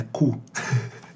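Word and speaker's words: cou: É cu. Cu. Mas com essa pronúncia.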